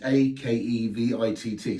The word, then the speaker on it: Akevitt: Now, Akquavit is spelled Aqavit in English and in French, but it's not how it's spelled in Sweden. It's Akvavit, Akvavit. And even in Norway, it's Akquavit, which is Akevitt. So as long as it sounds like the word, it could be a whole variation of different spellings.